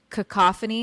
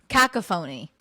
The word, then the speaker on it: cacophony: You know the word cacophony? You know that word? I feel A I symphony of sounds. Oh, yeah. I've called yeah. it Cak-A-Fonie.